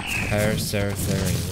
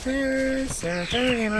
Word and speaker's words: Paraceratherium: Paraceratherium. That's how you pronounce it. Alright. Yep. Sing it. Paraceratherium. Yeah, it's just like the Metallica song. Instead of Welcome Home Sanitarium, it's Paraceratherium.